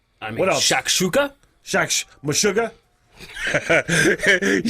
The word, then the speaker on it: Meshuggah: repeated yeah yeah i mean what else shakshuka meshuggah he said the taxi you're like mashugana i was just waiting as soon as i said the intentional mispronunciation uh to the band name meshuggah uh